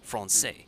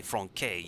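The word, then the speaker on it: français: technically that's correct because French alphabet has this C that has this little hook on the bottom, and when you see that, you pronounce it as an S, like Francais. There's the C in that example. You don't say Franquais, you say Francais.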